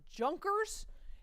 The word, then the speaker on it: Junker: They're called the Junkers, if you want to say it like an Englishman, or the Junkers.